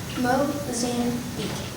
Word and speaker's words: Mozambique: If you had searched up poorest countries in the world, you would have probably seen the country Mozambique, pronounced Mozambique. Mozambique kids play with old tires and sticks that they find.